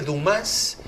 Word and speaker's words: Dumas: Bueno, mira, entre los 100 que hay, podemos hablar, bueno, de otro novelista muy famoso y también francés, Alexandre Dumas, lo pronuncian en francés, que tampoco vino, el de los Tres Mosqueteros, claro.